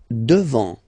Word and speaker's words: devant: Devant. Final T not pronounced.